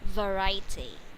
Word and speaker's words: variety: and the last is variety. Yeah, variety, you have to emphasize the V sound, variety.